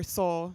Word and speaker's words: Soule: for inviting me here my last name is pronounced or soul just fyi it's not french a lot of people make that mistake so it's okay i